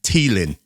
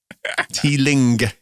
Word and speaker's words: Teeling: I only spelt it out because you pronounced it Teelin. Right? You dropped the G off the end of it with your native London tongue.